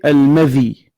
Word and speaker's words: المذي: Donc, on a ce qu'on appelle al-madhi. Donc, prêtez attention à ces prononciations, car il y a al-madhi, il y a al-mani, et il y a al-wadi. Ce que nous avons cité maintenant, c'est al-madhi.